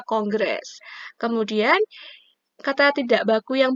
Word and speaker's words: kongres: Ya betul, tulisannya adalah kongres, tapi bacanya kongres.